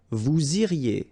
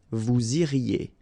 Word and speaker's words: vous iriez: Then, vous iriez. So same thing here, make the liaison. Vous iriez. Remember, when you get this EZ at the end, you get the sound E.